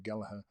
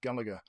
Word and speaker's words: Gallagher: say his name, and it turns out if you live in Ireland, you'd like to say Gallagher, and if you live anywhere else, it's Gallagher.